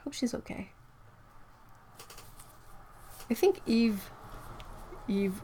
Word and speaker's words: Yves: In French, you know, Yves. And in French, it's pronounced Yves.